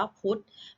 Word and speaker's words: พุธ: ออก เสียง นะ คะ เรา จะ อ่าน ว่า พุธ ไม่ ออก เสียง ทอทง ไหม คะ ไม่ เอา เสียง พอ ธง แต่ ออก แต่ ร่วม กับ ทรหาร ก็ คือ รวม กัน 2 ตัว เป็น ตัว สะกด ใช่ ไหม คะ เป็น